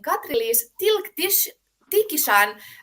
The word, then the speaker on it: Katri-Liis Tilk-Tichisan: Today with me, I have the great pleasure of welcoming Katri-Liis Tilk-Tichisan from Estonia. Hi, Thank Katri-Liis. you. Thank you, Chryssa. You pronounced it so well, Tikishan. It's not an easy name.